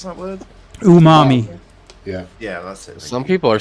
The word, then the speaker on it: umami: are sensitive to it is that how you pronounce that word Umami yeah yeah some people are sensitive to pretty